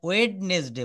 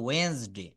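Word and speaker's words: Wednesday: ডি অনেক সময় অনুচ্চারিত থাকে, যেমন আমরা সপ্তাহের যে 7টা বারের নাম এখানে ওয়েডনেসডে বলি, কিন্তু এটা সঠিক উচ্চারণটা হবে ওয়েন্সডে।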